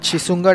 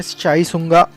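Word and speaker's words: शिशुनाग: अभी एज we mention हरण्यक dynasty के एंड होने के बाद शिशुंगा dynasty had taken over. Actually English में वो शिशुंगा बोलते हैं, बट एक्चुअल प्रोनाउंसिएशन में साइसुंगा ऐसा प्रोनाउंसिएशन है, सो वी can call it साइसुंगा dynasty.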